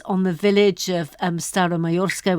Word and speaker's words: Staromayorsk: the village of um style of mayorska which I hope I'm pronouncing correctly and why that's significant you are pronouncing it correctly and uh I will